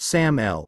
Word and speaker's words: SAML: Security Assertion Markup Language SAML, pronounced SAML 1, is an open standard for exchanging authentication